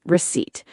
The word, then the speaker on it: receipt: And word 6, receipt. R-E-C-E-I-P-T. The small paper that shows what you bought. The P is silent.